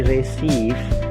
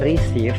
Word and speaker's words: receive: Dan yang terakhir, receive. Jadi receive, bukan receive tapi receive. Jadi itu suara vokal yang berbeda. Suara vokal Lele dan Siti ya.